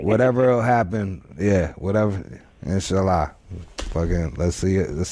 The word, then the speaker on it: inshallah: Now, you old bootleg ass Muslim, you don't inshallah, even know Arabic. God willing, yeah. Inshallah. Inshallah, yes. Yeah, all right, there it is. All right. Whatever will happen, yeah, whatever. Inshallah.